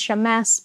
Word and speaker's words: Shammas: Elena has the right pronunciation. It's Shammas, but usually I let people off the hook for that.